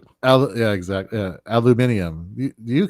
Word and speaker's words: aluminium: I say here in the States aluminum to avoid conversations, because otherwise get, oh my God, are you from England or something? I'm like, no, you're pronouncing it incorrectly.